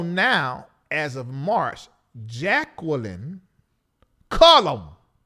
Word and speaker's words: Cullum: And you do know now, as of March, Jacqueline Cullum. That's her last name. They want to make sure I say it like that because her stage name is Clark Chisholm, but it's Cullum Chisholm.